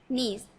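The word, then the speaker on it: knees: क्यों पड़ते या पर जो कि है वह साइलेंट है प्रभु तो यहां पर आपको सिर्फ अपनी पढ़ना है कि हेव टू नीस उसके दोनो घुटने घुटने ने मतलब होता है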